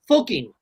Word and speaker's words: Fucking: It's pronounced fucking, but there is a town in Australia called fucking.